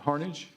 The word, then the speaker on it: Harnage: It is actually Harage. Good job. Like Carnage with an H.